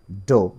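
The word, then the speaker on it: dough: তো 4 নম্বর ওয়ার্ডটি দেখো, এটির উচ্চারণ সম্পূর্ণরূপে ভিন্ন, একটির সাথে মিল নেই। এটি দেখো রয়েছে DOUGS, এটির উচ্চারণ হচ্ছে ডো।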